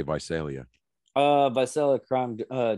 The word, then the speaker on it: Visalia: uh rapist was uh venice leia is that how you pronounce that oh wait by celia yeah i was gonna say visalia uh by selling crime